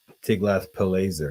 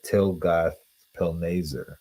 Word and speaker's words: Tiglath-Pileser: But for some reason, and even in the Book of Kings, for instance, this name is pronounced Tiglath-Pileser, not Tilgath-Pilneser.